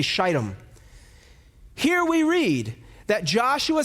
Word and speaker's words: Shittim: This place is called Shittim, Shittim. I will not pronounce it any other way. I will say Shittim.